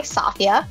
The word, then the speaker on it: Safia: And joining us today on this conversation is I, Safia, rhymes with mafia.